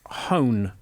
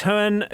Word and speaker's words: Hohen: So I think it's pronounced Hone. Not everyone has to be Kermode. Right, okay. We love you, Mark. Do love Mark. Yeah, so it's from director Matthias Hohen, who directed Cockneys versus Zombies or Zombies versus Cockneys.